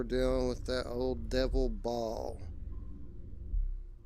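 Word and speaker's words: Baal: uh I think most people pronounce it Bale like b a l e but it's spelled b a a l these May draw Bale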